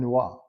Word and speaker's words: Noir: talking about P Noir so let's figure out how you say it I just said it incorrectly it is a French it's combination of two French words Pino and NOA Pino is French for